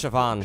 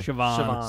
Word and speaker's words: Siobhan: It's Siobhan. Siobhan. She's cool. Looking for an Irish B's are pronounced like V's. Really? The BH is a V sound.